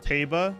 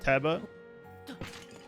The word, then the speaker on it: Teba: I was today years old when I noticed it's pronounced Taba and not Teba.